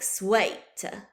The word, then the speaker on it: sweet: But in Middle English, the double E makes a long A sound, like in great. So sweet in Middle English would have sounded more like swait.